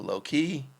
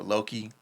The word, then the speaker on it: Loki: uh the trailer for low-key or loki depending on how you say it um he's anything